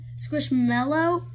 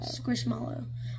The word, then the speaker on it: Squishmallow: you say squishy Mallows it's squishmallow or some people say Melos squish mellow Milo or mallow squishmallow Malo mellow or mallow mallow mallow mallow mallow mellow mallow mallow and Meadow I say squishmallow she says see the